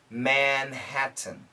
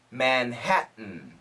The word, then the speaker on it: Manhattan: no T bust Love Manhattan now the perfect pronunciation in America would be Manhattan Manhattan Manhattan but most Americans will say Manhattan which is a gladle stop so manh hat